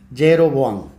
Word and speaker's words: jeroboam: con el nombre de jeroboan o jeroboan porque los pronunciamos la J somos los españoles y los árabes el resto de los idiomas la J la pronuncian ya ye y yyu yero boan eh son eh estos